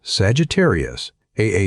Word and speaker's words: Sagittarius A*: They called that source Sagittarius A*. The asterisk is pronounced "star," a small joke among physicists, because it is the one thing in that crowded region that is not a star at all.